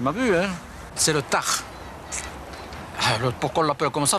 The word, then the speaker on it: Tarn: Normal, ici on dit le tar, on ne prononce pas le N.